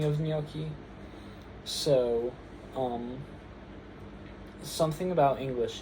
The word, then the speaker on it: gnocchi: A GN um in Italian is just the standard for the nya sound. So, it's like the equivalent of the N the nya um in Spanish.